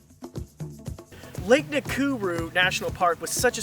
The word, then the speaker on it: Nakuru: was completely different today we're headed to lake nakuru national park they say right I said it